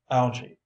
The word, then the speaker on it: algae: illustration tropical Thicket glossery algae pronounced algae a group of plants